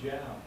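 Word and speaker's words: Jal: Well, most people would pronounce it Hal, or they would think it was a Spanish connotation, but it was an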